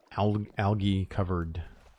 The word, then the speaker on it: algae: I've always heard it with a hard G, or with a soft G. So algae? I think it's the difference between like a North American and UK pronunciation.